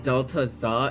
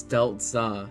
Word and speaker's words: Delta: So, it's not Delta Za, it's Delta.